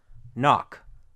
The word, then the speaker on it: knock: in those cases okay K is silent usually when it comes before an N sound this is an old